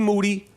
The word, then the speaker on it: Moody: and my co-host G Moody last name rhymes with Duty we got the [